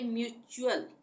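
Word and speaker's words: mutual: यू ए एल आए तब टी का उच्चारण च होता है जैसे यहां पे है ये म्यूचुअल म्यूचुअल एम यू टी यू ए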